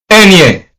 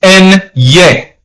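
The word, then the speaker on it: ñ: Once you have the symbol or the accent over the N, the accent is called tilde. ¿Vale? Okay? ¿Verdad? Right? Enye. So the pronunciation is N-ye.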